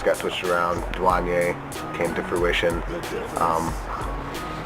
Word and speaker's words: Duhjuanyay: duane just because um i spell it duh and then like duh then juan and yay um a lot of